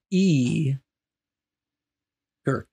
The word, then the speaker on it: Gurkk: The strange tale of, let me pronounce his name properly, E. Gurkk.